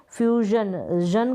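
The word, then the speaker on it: fusion: यहां पर देखिए फ्यूजन करके प्रोनाउंस कर रहे हैं एस आई ओ एन को क्योंकि इससे पहले यू है एक स्वर है जो कि एक वोवेल लेटर है।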